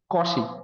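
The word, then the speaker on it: Cauchy: Number কমি মিন ভ্য থি এই এই জিনিসটাকে অনেকে অনেক রকম প্রোনাউন্স করে। কশি বলে, কেউ কচি বলে। আমাদের ইন্ডিয়ানরা ম্যাক্সিমাম কচি বলে। ওকে? এটাকে কশি বলা হয়।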